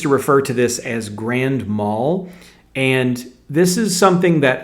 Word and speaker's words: grand mal: People used to say grandma seizures as if it's a seizure that a grandma has.